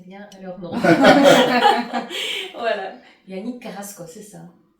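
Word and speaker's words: Carrasco: Bonjour, je pense que j'ai prononcé bien leur nom. Voilà. Yan Carasco, c'est ça ?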